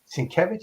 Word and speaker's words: Sienkiewicz: His name is Sienkiewicz.